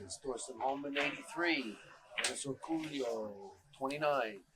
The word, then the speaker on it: Orcollo: Okay, the score is Thorsten Hohmann 83, Dennis Orcollo 29. How do you say his name? It's Orcollo.